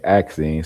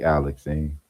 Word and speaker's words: Alexine: My mind wanted to say Axine since you said it rhymes with Maxine, but I know the L can't be silent, so it's got to be Alexine.